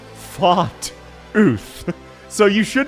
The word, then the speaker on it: Fartooth: Once again, I need to remind people, Fartooth's name, and bear with me, is Far Tooth. Because she has teeth like swords that she shoots very far. Her name is not Fart Ooth.